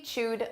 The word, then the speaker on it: chewed: Notice this is an ed verb, a past simple verb, but the pronunciation is a soft d. Chewed. D. Now, again, we can drop that sound when we're connecting it to other words, so you don't really hear it.